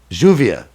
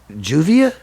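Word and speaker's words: lluvia: again see this is juvia yeah how do you spell that l-l-u-v-i-a but it's juvia yeah makes like a j sound when there's two l's together juvia yeah it would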